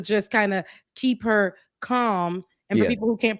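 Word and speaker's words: Kamala: kind of keep her calm and for people who can't pronounce um you know Comm Harris's name calm calm not Camala calm not koala Cal you notice Rebecca on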